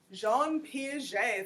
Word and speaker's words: Jean Piaget: sociologists always study his name is Jean Piaget Jean Piaget is a French pronunciation of this word you might maybe you